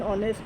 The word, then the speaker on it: honest: H है, honest की spelling क्या है? HONEST। इसमें H जो है वो साइलेंट है और O की आवाज़ निकल रही है, और O चूँकि वॉवल है इसलिए हम N लगाएंगे।